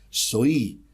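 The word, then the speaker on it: ζωή: En primer lugar, quiero destacar que la palabra griega traducida como vida es la palabra griega soí, que se escribe soe.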